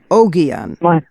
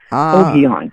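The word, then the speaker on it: Ogion: And how is it a hard G or a soft G in pronouncing O G I O N. I say Oon. Oianon. Oianon. Yeah. My the G's as in g are generally hard.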